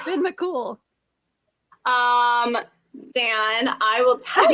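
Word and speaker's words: Fionn mac Cumhaill: like what oh god the hero's name is pronounced ben mccool um dan i will tell you how it's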